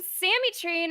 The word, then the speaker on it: SammyTrain: I am SammyTrain, and this is my favorite interview on the Citadel.